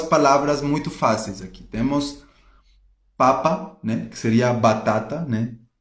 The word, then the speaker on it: papa: Temos papa, né, que seria batata, né, em português. Papa. E temos a palavra papá, que seria pai, certo? Então, papa não tem acento. E papá tem acento na última sílaba.